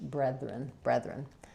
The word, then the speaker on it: brethren: Focusing on the it's actually very similar to breath. It's just that it's voice. So say the word breath and then breath. And then just start your ren as a new syllable, brethren.